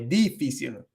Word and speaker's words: difícil: I keep putting the stress on the first E.